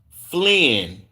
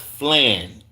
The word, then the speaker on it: Flynn: We got someone who exists says, it's pronounced Flynn, not Flan. Flynn, okay?